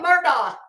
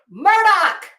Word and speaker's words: Murdoch: where I'm coming from you kept calling him Murdock it's Murdoch and I don't care if you heard other people pronouncing it Murdoch he told you it's Murdoch but that's just a